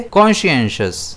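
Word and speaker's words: conscientious: इसे हम प्रोनाउंस करेंगे कॉन्शियस जिसमें स्ट्रेस जो है वो ई पर रहेगा।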